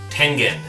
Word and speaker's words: Tengen: Tengen. It's Japanese.